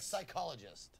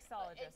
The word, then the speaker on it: psychologist: Like psychologist. What? The PS is pronounced like an S. Not like sologist, no.